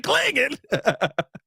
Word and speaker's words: Clingan: Donovan Clingan. That was a miss, right? Hey, that's exactly how you got to say his name. Donovan Clingan.